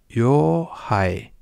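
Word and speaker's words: 洋灰: El primer kanji, ya lo sabéis, el primer kanji se lee yo, que significa algo que no es propiamente japonés, que viene de fuera. Y el segundo kanji, esto es lo curioso, el segundo kanji se lee hai y significa ceniza. Así que sería yo hai.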